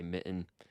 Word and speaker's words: mitten: Like most honest people I talk to don't pronounce it with the T, and they say mitten.